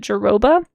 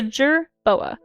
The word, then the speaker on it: jerboa: this and I always in my head pronounced it geroba and I thought that's what it was called, but it's not. It's a jerboa.